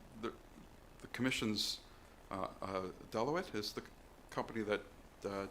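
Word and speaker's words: Deloitte: that um some the the commission's uh uh Delawette is the company that uh did the uh how to pronounce the name. Yeah. Um what's that? Deote.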